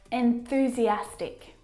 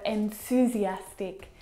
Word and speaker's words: enthusiastic: Enthusiastic. Not enthusiastic or enthusiastic, but enthusiastic.